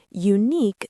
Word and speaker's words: unique: Unique starts with you, so people think it needs an. But unique sounds like unique, with a Y sound at the start.